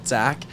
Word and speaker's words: XAQ: It's pronounced Zach.